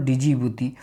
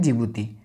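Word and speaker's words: Djibouti: Somalia, Ethiopia, Eritrea और डिजिबूती। जिस जिबूती को हम लोग डी और जिबूती से याद करते हैं, लेकिन डी यहाँ साइलेंट रहता है तो इसे हम कहते हैं जिबूती।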